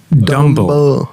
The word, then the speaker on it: Dumble: Dumble. It's pronounced Dumble, and it means stupid.